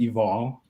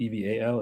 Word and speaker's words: Eval: Yeah, you pronounce it eval. So, think of the word Yeah. Think of the word love backwards. Even though it's spelled EV A L, it's pronounced EV O L.